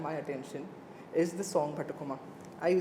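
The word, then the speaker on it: Bathukamma: which has grabbed my attention is the song Bhatakama. I said it right? Correct, Right? Batakama.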